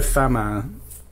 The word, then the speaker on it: Famin: of the race and Bruno fam as I believe is pronounced no Bruno it's fam um apparently said to